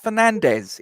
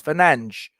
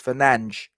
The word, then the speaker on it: Fernandes: It's not Fernandez, it's Fernandes. Whatever. Did you But know is that? it really? No, it's not. Apparently, in Portuguese, his name is not Fernandez, it's Fernandes.